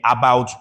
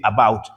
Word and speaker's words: about: Well, you would have expected that it should be about. Of course, Nigerians will say about, but the word is about. about So, the stress is on the second syllable, b o u t.